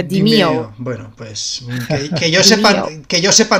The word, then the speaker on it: Demeo: Que era un tuit de una de las desarrolladoras o alguien diciendo cómo se pronuncia realmente Demeo. Era que era Dimeo.